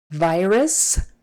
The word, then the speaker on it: virus: virus virus virus but make sure you get that stressed syllable vowel correct V virus not virus not virus it's a virus very strong hard um eye there long eye virus visiting hours visiting